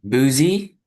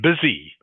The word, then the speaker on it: busy: Okay, so just careful how you pronounce that. Right?